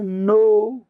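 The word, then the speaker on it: know: word नो नो नो तो न ओ न के साइलेंट होगा यहां पे और न से आएगा नो नो नो नो ये होगा यह न ये देखो ए में दे रखा है य नाऊ है ये न है ये कन है तो ए हो जाएगा के तो साइलेंट है इसमें तो 95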